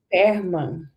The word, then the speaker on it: Perlmann: Hoje nós estamos com o Eduardo Perman. Isso. É assim que pronuncia?